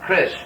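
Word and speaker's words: kṛṣ: Anyway, this is pronounced kish. This dot just means pronounced like sh will be pronounced more or less like this. So this by itself is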